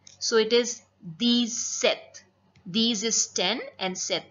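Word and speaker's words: sept: seven it's called set set P is silent so it'd be pronounced as set eight in French it's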